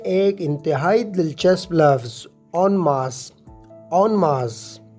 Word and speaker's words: en masse: imtihaai dilchasploves ऑन मार्स ऑन मास जी हान इसे आपने ऑन मार्स प्रोनाउंस करना है यह एन मास या एन मैन से नहीं है बल्कि दोस्त प्रनंसीएशन है ऑन मास मेरे एक दोस्त ने